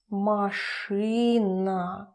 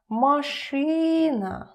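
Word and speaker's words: машина: car in Russian is mashrina Ma tree nah nah I hope now you can see the difference between my e and y and marshina machine look at the ending it's not just ah it's not super easy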